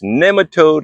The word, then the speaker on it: nematode: Yes, it's Nemaode like Nemesis.